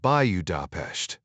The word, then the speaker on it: Budapest: He pronounced it by you da not the way Ryan expected.